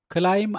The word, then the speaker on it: climb: free ተአስረ ነጻ ኾነ climb up ናቱ ተጻራሪ climb down ደየበ ወረደ ኣብዚ ቃል እዚ ንኮንሶናንት ቢ ኣይነድምፆን ኢና b is silent send ናቱ ተጻራሪ receive